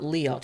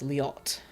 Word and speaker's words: Liot: I almost forgot, with my language I've put the emphasis on the second syllable, so I need to make sure I'm pronouncing the names. So it's not Liot, it's Liot. Min is easy.